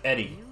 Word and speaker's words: Eri: girl her name is Eddie OPP the the r is is is uh the r is pronounced quickly enough that it kind of sounds like a d stop by the AO